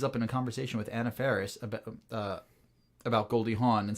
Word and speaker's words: Anna Faris: matter and the worth of knowledge I like Anna Faris I like Anna Faris onna an affair on a ferris are saying her name wrong I like on Ferris this is our second out of folks who